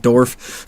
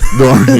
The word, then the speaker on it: Dorn: Yeah, and it was to mispronounced his last Michael name. Dorn. Yeah, Michael Dorn. Thank you. Yeah. I said Dorf. Dorn, yeah.